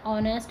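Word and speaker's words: honest: तो देखिए यहाँ H आया है, कॉन्सोनेंट है, लेकिन इसे जब हम प्रोनाउंस कर रहे हैं तो देखिए साउंड किसका आ रहा है, ओ, तो यानी कि यहाँ पे छोटी ओ का साउंड आ रहा है, इसीलिए हमने यहाँ एन का यूज़ किया है।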